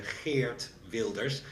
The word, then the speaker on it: Geert Wilders: pronouncing it correctly, but Jer Wilders. Well, the correct pronunciation you I guess you have to be Dutch. It's a fear builders with a sharp G.